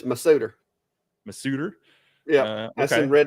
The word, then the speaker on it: Masuter: I've heard Mouster, I've heard Mashuter, I've heard Massuter. Well, So, in redneck and knees, it's Masuter.